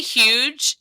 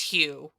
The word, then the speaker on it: Hugh: I'm sorry, did you say huge? Because his name is pronounced Hugh.